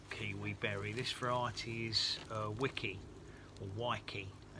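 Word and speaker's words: Weiki: This variety is Wiki or Waiki. It's spelled W-E. Let's have a look. I think it's W-E-I. W-E-I-K-I. So I don't know if it's probably Waiki, because Wiki would be like Wikipedia.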